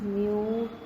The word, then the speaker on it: mu: So second medium with respect to the first medium, it is generally we call it as a Greek letter of 1 mu 2. So we pronounce it as a mu.